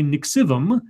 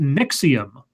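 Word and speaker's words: NXIVM: in courses offered by Nick sebum our sorry pronounced nexium okay nexium weird which it says are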